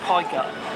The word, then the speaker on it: Pegu: There's a little place called Pegu Market, and it's pronounced Pie Gut.